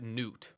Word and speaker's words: Gnut: a negative opinion of Newt, which that's going to be the pronunciation that I go for in this video. I'm just going to call him Newt, and I hope that